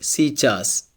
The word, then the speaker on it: сейчас: For example, here we have the word сейчас. Сейчас, it means now. Here, the letter A is unstressed, so it's pronounced like E.